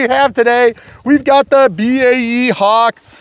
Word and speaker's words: BAE: We've got the BAE Hawk, also known by those of you that say it wrong, the Bay Hawk, which is not correct.